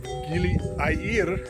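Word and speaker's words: Gili Air: the edge of lombok you have geely IE this spelled like air a ir we have gili meno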